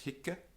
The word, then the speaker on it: hic: Double C however um note that Heek and hawk also do exist with long vowels but these are adverbs the adverb here um and the ablative of that so for location it's Heek and hawk right but otherwise it's hikka Hawker this another confusion comes